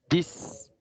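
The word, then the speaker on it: dix: Cuando el 10, cuando tenemos el número 10, se pronuncia dis, no dit, dis, con S, dis, ¿ok?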